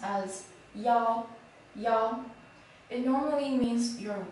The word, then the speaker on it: 腰: This character is pronounced as y'all, y'all.